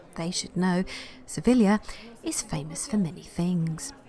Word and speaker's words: Sevilla: Beautiful Andalusian capital of Seville, or as the Spanish pronounce it, they should know, Sevilla, is famous for many things.